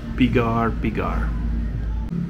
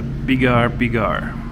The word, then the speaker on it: pigar: And then we're just waiting on Miss Cecilia's pigar. There's the pigar. Pigar. I guess the pronunciation.